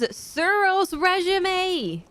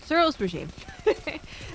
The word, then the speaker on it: Suros Regime: like to mention is suros resume I say like that cuz it upsets people I know how to say it suros regime suros regime was pretty